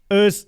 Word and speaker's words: Urs: Urs is, the right pronouncing.